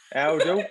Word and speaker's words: Oundle: Excuse me, pronunciation. Is it Aldle? Aldle.